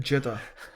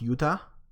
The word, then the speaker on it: Jutta: the deck oh no another one saying jitter I think in the witcher's in the witcher 3 her name is pronounced Utah Utah yeah I'm apologized just